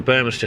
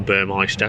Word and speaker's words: Burmester: flows directly into the burmester surround or burmeister depending on how you say it with the tweeters just